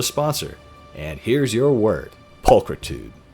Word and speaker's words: pulchritude: Pulchritude, a noun. Rhymes with dude, and it means beauty.